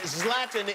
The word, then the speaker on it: Zlatan: the stubhub center you want to see zlatan zlatan is the correct pronunciation yes love them thank you very much